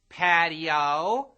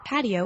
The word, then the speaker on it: patio: both Spanish and English in English we make patio a three syllable word patio in Spanish the I and the O sort of blend together into one sound making patio a two syllable word but do I walk